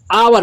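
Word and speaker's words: hour: ये दोस्तों यज से भले शुरू है दोस्तों, ये यज यहाँ पे साइलेंट इसे आवर पढ़ा जाएगा, ओ तो ए ई आई ओ से शुरू है तो दोस्तों यहाँ पे एन लग जाएगा, इसे हावर नहीं पढ़ा जाएगा।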